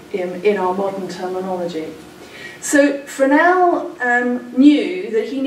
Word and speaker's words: Fresnel: to a Frenchman and it took me a while to know that you pronounced it for now not Fresnel and Augustine shore for